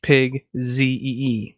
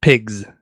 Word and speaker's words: pigz: It's spelled pig with a Z at the end, but it's pronounced pig Z-E-E, like that, instead of pigs.